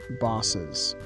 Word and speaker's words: boss's: my boss but then the possessive is my boss's office so we add an extra syllable with the apostrophe s to make it bosses here is another example